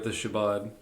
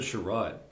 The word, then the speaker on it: Shabbat: we were at the Shabbat. You said it wrong. Shabbat. You said it wrong. Did I say it wrong? Yeah, again? you said it wrong. How you say it? It's Shabbat. You said Sherrod.